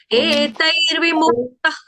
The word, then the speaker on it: एतैर्विमुक्तः: ठीक है, एतैर्विमुक्तः कौन्तेय, हाँ, एतेर भी नहीं है, एतै, तै, एतैर्विमुक्तः कौन्तेय, एतैर्विमुक्तः कौन्तेय, एतैर्विमुक्तः कौन्तेय, ठीक है।